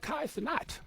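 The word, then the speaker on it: Kai Cenat: live streaming with a Kai sanat That's how you pronounce his name class not right sounds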